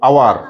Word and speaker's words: hour: কি উচ্চারণ হয়? আওয়ার। এইটুকু উচ্চারণটা হয়, এইচটার হয় না।